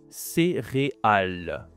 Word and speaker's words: céréale: C'est la céréale.